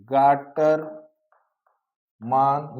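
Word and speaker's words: Gattermann: अगला जो हमारा अभिक्रिया है वो है गाटर। मान या अंग्रेजी प्रोनाउंसिएशन जो है गैटरमैन है।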